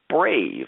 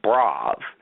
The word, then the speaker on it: Brāv: name of your company, it's pronounced Brāv, not Brāv. There's no E on it. There's the little mark on the top.